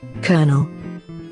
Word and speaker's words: colonel: colonel colonel colonel colonel kernel kernel colonel or kernel i think it's kernel and here's how it should be pronounced colonel this one's always so confusing kernel and